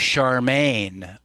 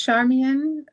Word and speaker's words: Charmian: Because some people read it as Charmaine and um So, it's Charmian. Charmean. Yeah.